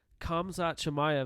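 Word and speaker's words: Khamzat Chimaev: dislikes him and uh he was referring to kamza chamaya that's how you say his name yes sir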